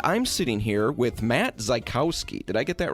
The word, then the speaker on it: Zajkowski: We're on site at the Lakewood location, and I'm sitting here with Matt Zajkowski. Did I get that right? You did. Zajkowski. You said you're not even sure you pronounce it correctly.